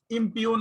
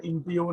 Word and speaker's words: impugn: ইম্পিউন বলতেছে, ঠিক আছে। সো ইম্পিউন আর কি, আমি এটা এই যে জি অনেক সময় আমি ইয়ে করে ফেলি, উচ্চারণ করে ফেলি। সো এটা ইম্পিউন আর কি।